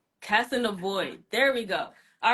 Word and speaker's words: Kassanavoid: I'm saying her name correctly it is Jana casanov yes okay let's bring her on see hey